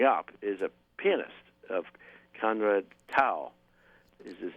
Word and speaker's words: Conrad: All right, and that's Conrad Tao, not Comrade. Conrad. Yes. No, you said you said it right. I just for the people that are listening who think Comrade Tao. No, you said it right. It's Conrad.